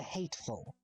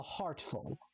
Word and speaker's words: Heartful: Everyone mispronounces his name. Everyone thinks it's the Hateful, but it's not. It's the Heartful.